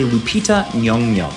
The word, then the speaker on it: Lupita Nyong'o: This is a Lupita Nyong'o, that's how you pronounce her name, and I hate that I